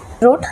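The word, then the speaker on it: wrote: याला light dash girl रोट डब्ल आर ओटी रोट dull इथे सायलेंट आहे आता इथे र दिला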